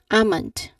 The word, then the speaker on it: almond: Uh, next up, we have here amund. Amand. What have you noticed upon me saying amund that there is a silent L. I did not pronounce the sound of letter L.